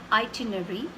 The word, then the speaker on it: itinerary: word is this yes we often pronounced it as itinerary missing out this part of it the ER and a so it's okay according